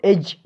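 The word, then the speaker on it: edge: For example एज, इस example में एज में डी लेटर साइलेंट है, अल्फ़ाबेट साइलेंट है, खामोश है, यानी इसका कोई आवाज़ नहीं है इस वर्ड में।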